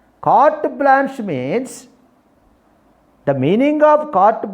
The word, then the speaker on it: carte blanche: Carte blanche, E is a silent. Blanche, carte blanche. The Phonetic script is carte, R is also silent. Carte blanche, sa is there. E is a silent. Carte blanche means, the meaning of